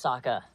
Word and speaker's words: Sokka: My name's Sokka. Rhymes with Akka. and Waka Waka.